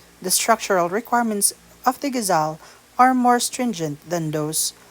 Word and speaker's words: ghazal: Exotic to the region, as is indicated by the very sounds of the name itself when properly pronounced as ghazal.